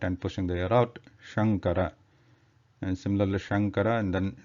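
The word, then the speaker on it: शंकर: Like the first is Shankara, Shankara.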